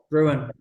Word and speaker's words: Gruen: got a good Gruen how do you pronounce this it's ruin sir this has not been